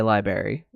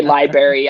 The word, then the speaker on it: library: I also sometimes say library. So I Oh my god, Don, if you're listening, every time you say library, I I cringe. I'm like, there's a second R in library.